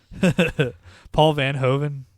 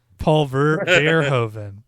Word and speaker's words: Paul Verhoeven: Paul Van Hoven, is that how you say it? Hold on. Paul Van Hoven had a Lederhosen. Paul Verhoeven.